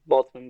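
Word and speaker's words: Boltzmann: the extra of what if you're a bman boltzman brain is that how it's pronounced yeah boltman brain you can't do anything about that yeah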